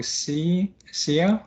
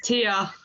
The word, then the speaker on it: Tia: So I don't know how to pronounce the name. So Sia, or I don't know. Yes, it's Tia.